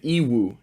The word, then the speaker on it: Yiwu: The biggest markets in China are Canton Fair and Yiwu. Yiwu, it's spelled Y-I-W-U.